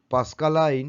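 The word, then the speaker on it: Pascaline: তিনি পাস্কালাইন নামক যন্ত্রটি আবিষ্কার করেন। অনেকে এটাকে উচ্চারণ করে পাস্কালিনও হয়, পাস্কালাইনও হয়।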